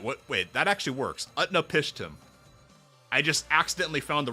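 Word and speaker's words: Utnapishtim: Currently, Utna Pishtim. Wait, what? Wait, that actually works. Utnap Pishtim.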